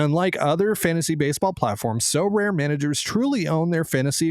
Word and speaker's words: Sorare: And unlike other fantasy baseball platforms, So Rare managers truly own their fantasy experience, collecting, buying, selling, and competing with player cards against global opponents to win epic rewards.